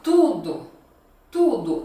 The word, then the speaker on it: tudo: Então eu falo assim, ó, tudo, tudo. Então ele é bem fechado, né? Esse U.